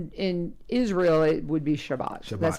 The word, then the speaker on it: Shabbat: pronunciations would be here so Sabbath in Israel is Shabbat so we'll let the